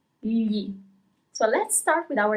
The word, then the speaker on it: gli: That's why it's pretty important to learn how to pronounce these words correctly. Li.